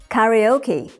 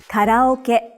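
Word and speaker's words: カラオケ: You would say karaoke, but in Japanese, you say karaoke.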